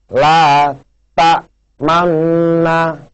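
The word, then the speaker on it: لا تأمنا: Sedangkan yang seperti ini, ya, bacanya huruf na ini disuarakan antara fathah dan dhamma, kedua bibir dimonyongkan atau disebut dengan bacaan ismam. Contohnya seperti ini, pemirsa, la ta manna, ya.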